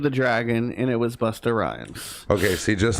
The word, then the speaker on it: Busta Rhymes: dragon, and it was Busta Rhymes. Okay, see, just like the guessed name that. Busted Rhymes, Busta Rhymes. right? Busta Rhymes. You gotta. That's the way you have to say it.